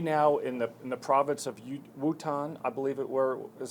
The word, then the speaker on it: Wuhan: They now, in the province of Wuhan, I believe is how it's pronounced, they now are seeing that the patients are now stabilizing.